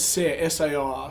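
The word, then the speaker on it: Saor: was on yeah and i've heard 50 different pronunciations for that you know it's sar so it means it means free in scottish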